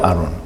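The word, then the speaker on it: ארון: 아론. 발음은 똑같습니다. 단어는 틀린데 모세의 형제되는 예수 그리스도의 그림자인 아론과 똑같이 이름은 아론입니다. 발음은 똑같이 아론인데요.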